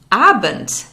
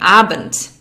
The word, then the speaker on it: Abend: Starting at around 6 p.m., you would say Guten Abend. Guten Abend. There's a D at the end of Abend, but it's pronounced like a T. We'll learn more about this in a future lesson. Guten Abend.